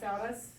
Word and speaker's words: sauna: My heritage is Finnish. That's where saunas come from. So I can't bring myself to say it the way you say it in America. How do you say it? Not Massachusetts. Sauna. Sauna.